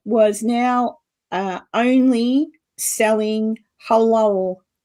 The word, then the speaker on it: halal: A Kentucky Fried Chicken that was now uh only selling halal halal chicken.